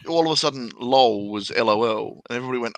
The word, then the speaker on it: LOL: And I'm like, why would you even write it as LAWL? Oh, because that's how you say it.